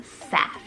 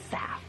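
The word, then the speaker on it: Seph: and one syllable sweet name SEF spell s e p h SEF now this is so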